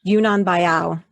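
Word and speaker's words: Yunnan Baiyao: How do you pronounce it again? Yunnan Bayao.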